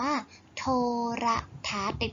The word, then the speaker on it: โทรทัศน์: ไม่ ออก เสียง คะ ตัว การันต์ ที่ อยู่ บน นอน หนู เพราะ ฉะนั้น หนู ก็ ไม่ ออก เสียง ตัว ศ.